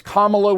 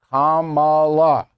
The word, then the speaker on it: Kamala: major historical player okay so it's commo with a K all right don't make that mistake don't PR mispronounce her word her name don't do that Kamala with a K she'll